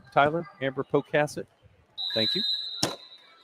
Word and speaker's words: Pocasset: Is that how you pronounce it? Oh, I said pocket. Apo caset. Say it again. Cassid. Amber Pocasset. Poasset. Is that right, Tyler? Amber Pocasset.